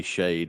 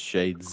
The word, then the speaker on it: Shades: shakes with an s you call me shade with no s it's shades oh no you're shaders